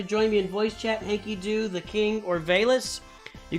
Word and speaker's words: HankyDO: That would be HankyDO. HankyDO! We know how to pronounce it right now!